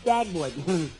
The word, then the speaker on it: Dagwood: Look, my name is not Deadwood, it's Dagwood.